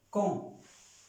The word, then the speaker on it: quand: Entonces se pronuncia como si fuera una K, pero como la A y la N tiene un acento nasal que suena O, entonces por eso se pronuncia con.